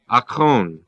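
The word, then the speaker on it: ἄκων: The Greek is A-K long O-N, akon.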